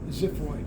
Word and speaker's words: xiphoid: At the tip, xiphoid. It's spelled with an X, but it's pronounced like a Z.